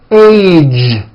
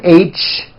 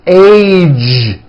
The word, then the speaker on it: age: the ends of words be sure to keep the voicing going throughout the whole word age it's not H its age with a voice of ending college posted stage pledge